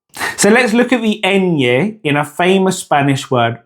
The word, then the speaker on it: ñ: The nye is actually one sound in a single syllable.